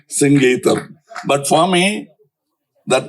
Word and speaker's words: Singeetam: For once and all in Kodambakkam there was always a confusion how to pronounce his name. Someone used to get very upset because they Mr. Sangeetam. No, it is Singeetam, please.